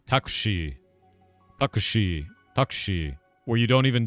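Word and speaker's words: タクシー: So you guys do with us we do taxi as two syllables. You do takushi and she's uh she has like a drawn out eye.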